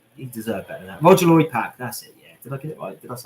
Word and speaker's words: Roger Lloyd Pack: having a trigger moment myself is it roger roger lloyd pacquiao i always get his name wrong i always call him john something i know it's roger lloyd pack isn't it yes the trigger in highgate cemetery